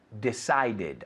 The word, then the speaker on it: decided: Needed, decided. Aquí se pronuncia la E.